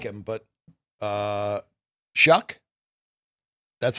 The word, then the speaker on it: Shough: So I really like him, but Shuck, that's how you pronounce it?